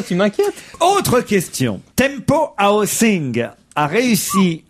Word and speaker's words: Housing: Non, housing, c'est... peut-être je prononce mal. C'est comme house. Housing.